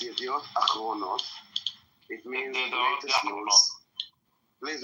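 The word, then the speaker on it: אחרונות: So, first of all, Rabbi, it's Yediot Achronot. It means latest news. Please let me speak. It's not Yachronot, okay? It's Achronot with an Aleph at the beginning.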